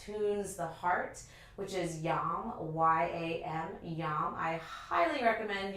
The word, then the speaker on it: yam: We will be incorporating a Sanskrit syllable that tunes the heart, which is yam, Y-A-M, yam.